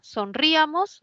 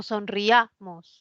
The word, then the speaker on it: sonriamos: Entonces, ¿quién suena más, la I o la A? ¿Sonríamos o sonriamos? Sonriamos. Es un diptongo, no separo, ¿sí? Hay 3 sílabas.